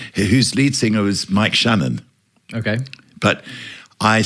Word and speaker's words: Channon: yeah yes Michael Roger so it's pronounced Shannon is it Mike Shannon yeah he scored over